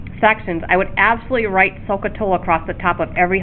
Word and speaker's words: SOHCAHTOA: three ratios is called SOHCAHTOA. So what did I just say? Let's get this book out of my way. So is spelled S-O-H. Ka is C-A-H. And then Toa, T-O-A. SOHCAHTOA.